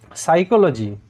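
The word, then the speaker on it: psychology: এটাও চারটি সিলেবেল হয়েছে সাইকোলজি পি সাইলেন্ট তোমরা এই জায়গায় লক্ষ্য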